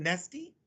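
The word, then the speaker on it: Neste: uh companies like nesty do you pronounce it nesty correct yeah i love this one um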